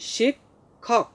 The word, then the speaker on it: শিক্ষক: তোমরা সবাই লক্ষ্য করো বোর্ডে, দেখো আমি লিখেছি শিক্ষক। শিক্ষক উচ্চারণ হচ্ছে শিক্ষক, প্রথমে ক এরপরে খ, শিক্ষক।